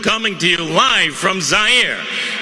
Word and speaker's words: Zaire: Hello everyone, Howard Cosell coming to you live from Zaire. Some would pronounce it Zaire. They're wrong.